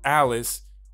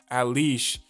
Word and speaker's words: Alice: Iceberg wakes up and tells his genius secretary, Alice, which has an Italian pronunciation, Alish, to prepare some screens to broadcast Vegapunk's message.